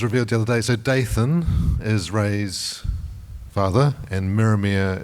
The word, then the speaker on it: Daythan: the other day so daythan is Ray's father and miria is Ray's mother got it so daythan like Nathan like fanther like banther